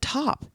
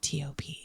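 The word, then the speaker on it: TØP: So top is it t like a t-shirt o p or 21 pilots or something else. 76% of people said top.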